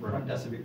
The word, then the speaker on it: remdesivir: I can't pronounce it. Remdesivir.